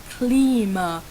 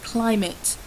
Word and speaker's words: climate: the words you used, you said klima, and I think you were trying to say climate. Again, at level 1, a very simple word such as climate should really be pronounced clearly and correctly, please.